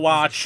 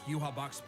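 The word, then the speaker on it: Yhwach: Yuhabak. And while other Shinigami tried their best, only Ichigo... I'm glad someone told me how to say the name. I was calling him Father Yawatch.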